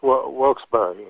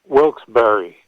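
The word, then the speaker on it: Wilkes-Barre: Is it Wilsberry or Wilks Bar? Pennsylvania. No, it's Wilsbury is how they pronounce it. Say it again. Wilsberry.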